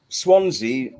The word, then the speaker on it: Swansea: Yeah, well, Swansea, where I live, Swansea's actually the only place name in Britain that rhymes with Fonzie.